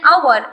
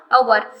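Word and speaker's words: hour: For example an आवर, एच यहाँ पे silent है, दैट इज वाई उसका प्रोनाउंसिएशन क्या हुआ, आवर।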